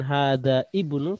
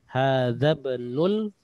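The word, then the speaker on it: هذا ابن: Jadi bacanya bukan hada ibnu tapi hadzab. Hadzab. Jadi hamzahnya tidak terbaca. Hadzabnul.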